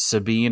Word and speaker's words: Sabin: I really liked his Sabin is the Italian and the Figuro brothers are both meant to be Italian. So, it's one of those where within its own language, it has a ton of different um pronunciations. So, I think all three are correct, but he is actually Mash.